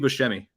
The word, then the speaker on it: Buscemi: name it's that's um I say like Steve Buscemi yep he's in it yeah I remember him